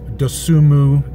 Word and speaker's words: Dosunmu: Basketball last night, really important in-home visit with Io Dosunmu. There's an N in his last name, you don't pronounce it.